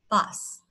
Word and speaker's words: bus: Các bạn ngày xưa đi học chắc hay đọc âm này là ơ đúng không? Bus, bus đúng không? Nhưng mà thật ra nó là bus, bus.